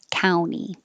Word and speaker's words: county: 48, county with a T or county without a T, but the vowel is ow, county.